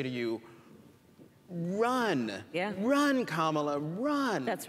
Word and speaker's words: Kamala: pronounce your name kamala so just think of like the punctuation mark a comma and that at a law and there you go and so so